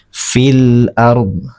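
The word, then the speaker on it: في الأرض: Jadi lamnya dibaca jelas. Fil ard ya. Fil fil fil ard. Jadi lamnya terbaca jelas.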